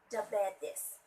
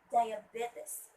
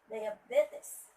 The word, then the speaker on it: diabetes: and they usually say diabetes, which is wrong. It should be diabetes. And the stress word is should be at the third syllable, which is diabetes.